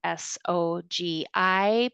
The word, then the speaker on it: SOGI: The acronym for all of that together is S O Gi, pronounced SOGI.